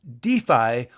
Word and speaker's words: DeFAI: you spell it d f AI that is pronounced defi or exactly the same as DFI defi so